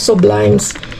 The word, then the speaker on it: Sublimes: Sublimes. Sublimes sublimes kasi ang ano bigkas dito sa Espanyol kaya sublimes ang pagkasabi ko.